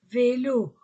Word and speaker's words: vélos: singulier au pluriel les vélos on ne prononce pas le S le jouet to le